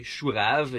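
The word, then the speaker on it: chou-rave: vegetable in french it's in french you say shurav you know it's like it's like a beetroot you know but for cabbage if you want to but if you pronounce it in english it sounds like rave so i was like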